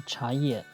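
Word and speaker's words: 茶叶: That's why tea is pronounced chai in Turkish, the original sound of chaye, which means a tea leaf.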